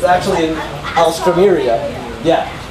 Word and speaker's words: alstroemeria: It's actually an alstroemeria. Yeah. It's like Astros, but it's actually Alstro. And T-R-O-E. And then M-E-R-I-A.